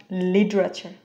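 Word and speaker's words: literature: seater আমাদের পরের শব্দ এটা ফ্ল্যাপিং করলে হয়ে যাবে এটার উচ্চারণ লিটারেচার লিটারেচার আমরা একটা সেন্টেন্স ব্যবহার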